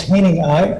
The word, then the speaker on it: Hanning: Hanning. Is there a correct pronunciation, the third? It's Hanning.